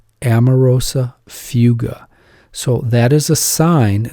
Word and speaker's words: amaurosis fugax: word for you gotta know this word it's pronounced amarosa fuga Amoroso fuga so that is a sign that the patient